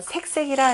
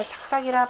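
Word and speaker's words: 愬愬: 우리가 정확한 발음으로는 거의 뭐 중국 발음도 나오지만 그 송나라한테 하면 색색이라 이렇게 하세요. 그냥 위에 있는 초하루 삭 때문에 삭삭이라 발음하는 경우들이 많은데 색색으로 바꾸겠습니다.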